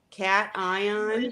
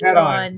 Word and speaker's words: cation: Cat ion? Yeah, of course, cat Cat ion, not cation.